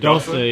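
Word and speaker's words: dosser: I know from Tyson Fury, Dossa. Is that how you say it? Dossa, yeah, it means lazy.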